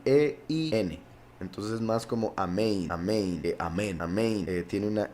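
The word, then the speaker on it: אמן: Hay quienes siguen la pronunciación ashkenazi, que no es la correcta, y dicen omen, por si algo.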